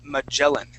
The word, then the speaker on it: Magellan: So Ferdinand's last name is pronounced Magellan. Magellan. Or that's how we would pronounce that in English, Magellan, okay?